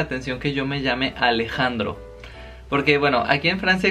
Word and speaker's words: Alejandro: Se me hace muy chistoso porque la J les cuesta mucho trabajo pronunciarla, la J. Y obviamente hay gente que la omite y me dice Aleandro. Hay gente que me dice Alejandro.